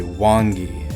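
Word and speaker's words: 원기: And in Korean, they use different characters, but it's pronounced almost exactly the same. They say Wangi instead of Yuanki, and it's the same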